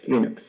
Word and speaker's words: Linux: is L St and I pronounce Linux as Linux so this was interesting